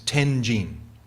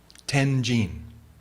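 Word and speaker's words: 天親: Now, Vasubandhu's name in Japanese, or in Chinese, which we pronounce in Japanese, is Tenjin. Tenjin.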